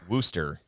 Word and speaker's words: Wooster: uh where am i i am in worcester ohio it's spelled with a w hello concert in oh yeah wooster i know i know